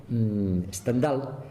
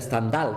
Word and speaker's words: Stendhal: está la novela, que Stendhal, pues no se pronuncia Stendhal, como dicen algunos, porque el pueblo no es francés, es un pueblo alemán del que toma el nombre, Stendhal.